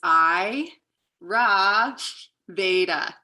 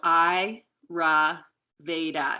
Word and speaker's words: Ayurveda: and how it's pronounced how i remember it is i ra veda so i ra veda you can repeat it